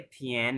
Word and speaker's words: 天: जिन फातिमा थियान नहीं जैसे हमने नियन पढ़ा था वैसे ही ये थियन है थियान नहीं थियन जिन थियन जिन जिन थियन